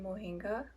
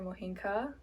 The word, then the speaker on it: mohinga: So first up, we will be watching mohinga or mohinka or however the different ethnicities would like to pronounce it.